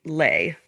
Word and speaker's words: Leigh: But Leigh Bardugo, every time I read Lee, Leigh, I think it should be slay, like Sleigh. Well, you think it should be lay.